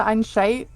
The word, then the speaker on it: Einsicht: It is I always pronounce it Einsicht. yeah, which doesn't make any sense, but just replace the CH with SH.